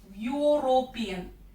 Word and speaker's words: European: But this is wrong, because the pronunciation of European is Y. U. European.